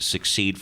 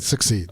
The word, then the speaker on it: secede: Did I pronounce that wrong? I think you said succeed. Oh, secede. Secede.